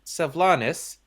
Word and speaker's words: Sylvanas: So, in a previous session, where all of our characters, except for two, were asleep, Noob Mister's character, Sylvanas... Hey, you pronounced it correctly.